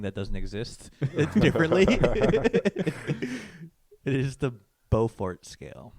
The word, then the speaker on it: Beaufort: Ferg or Beaufort scale it's it's bow like French bow fort before Frank bozo how do you spell B ei you we call it Buford yeah there's the city called Beaufort but it's spelled differently